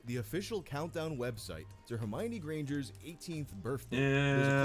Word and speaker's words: Hermione: little bit about Miss Hermione Granger. First of all, her name is pronounced Hermione, not Hermione. You can remember where the accent goes because it's on the my, as in Hermione is